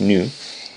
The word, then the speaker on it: nu: It's actually pronounced new but uh in our case well we can call it V.